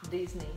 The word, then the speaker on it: Disney: Você precisa fazer D aqui. No céu da boca. Ah. Disney.